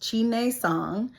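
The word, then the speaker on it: Chi Nei Tsang: It is pronounced Qi Nei Song.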